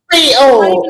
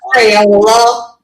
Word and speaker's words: Creole: It's Creole, not Crayola.